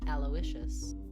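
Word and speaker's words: Aloysius: Presents how to pronounce. Aloicious.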